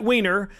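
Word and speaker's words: Wiener: California you keep winning SB 288 Senator Scott Weiner that's how you pronounce it is pushing his bill that allows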